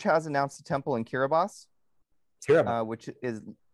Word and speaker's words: Kiribati: announced the temple in kiribos which is looks like it should be spelled Kiribati but it's pronounced kiribos and which is the